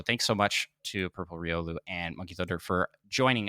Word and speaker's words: Riolu: Am I saying Riolu right, Micah? We looked up the pronunciation finally for that.